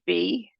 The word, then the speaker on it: phi: some people say F some people say fee which I spell it the same way but it's this symbol